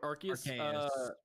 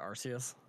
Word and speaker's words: Arceus: arceus or or whatever arceus is that the first pokemon game where the kids people actively try to hurt the trainer i was pronouncing arceus apparently it's arceus i got an ad